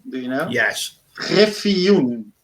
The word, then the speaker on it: Griffioen: also difficult to pronounce my last name. Do you know? Yes. Griffioen. Griffioen.